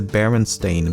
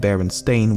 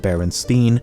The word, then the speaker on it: Berenstain: Thirdly, the son of the creators has said that barely anyone pronounced it correctly when he was growing up and he was most frequently called Baronstein or Bernstein.